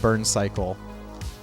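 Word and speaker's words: Burn:Cycle: year for 94 was burn colon cycle like burn pronounced burn cycle burn cycle like that Bubble Bobble is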